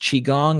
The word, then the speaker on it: Qigong: Is it pronounced Qigong?